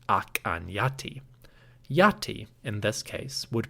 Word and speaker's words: Akhenaten: Based on studies of late Egyptian and the modern Coptic language, Scholars suggest that the pharaoh's name, El-Amarna, was probably pronounced Ak-an-Yati.